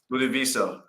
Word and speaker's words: Ludovico: Ludovico. I think that's how you say it. He said I said it right the first time.